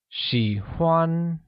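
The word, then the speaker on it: 喜欢: say like and drawing like literally translates to she won using the third tone for i and the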